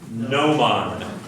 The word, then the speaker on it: gnomon: Gnomon, yes. A gnomon, like new, nice.